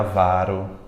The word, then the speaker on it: varão: na parte de vocês a sílaba tônica viu a mais forte para não cometer esse erro de prosódia varão eu tenho a vara